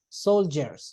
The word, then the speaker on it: soldiers: word solders h some sometimes the letter D sounds like soldiers solders okay so in fact the pronunciation is like this uhuh Soldier soldiers Soldiers the same happens the